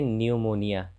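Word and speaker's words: pneumonia: तो पी के बाद जब एन रहे या पी के बाद जब एस रहे तो पी का उच्चारण नहीं होता है, जैसे इसे पढ़ेंगे न्यूमोनिया, निमोनिया।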